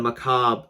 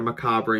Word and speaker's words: macabre: the trailer, and the macabre sniper. It's not Mechabre or Macabre, it's macabre. You pretty much ruined an actually really good pun with your bad way of pronouncing words.